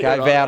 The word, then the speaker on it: Vaude: I actually got a punch in the stomach from the owner, because it's actually his initials pronounced in German is how they came up with the name.